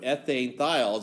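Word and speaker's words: ethanethiol: have for alcohol is they keep the E. Why? Because then you don't have to try to pronounce N-T-H. It would be right? So they put ethane thiol just so that you could say it.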